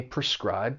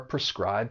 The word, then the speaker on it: prescribe: Now, this verb has two syllables and the stress is on that second syllable. Prescribe. And that first syllable, even though it's spelled p r e, it has a p sound because it's unstressed. Prescribe.